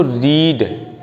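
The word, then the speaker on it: read: तो हमने लिखा यू हैव नॉट अब देखो रीड spelling same to same ही रहती है। आर ई ए D first form भी सेकंड फॉर्म में भी आर ई ए डी ही लिखते हैं। लेकिन उसको रेड पढ़ते हैं।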